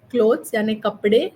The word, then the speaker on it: clothes: bag when you say clothes uh lot of clothes it is clothes plural okay plural c l